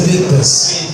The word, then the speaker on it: Bretas: Brett, primeiro que me tira uma dúvida, a pronúncia do seu nome é Bretas ou Bretas? É Bretas.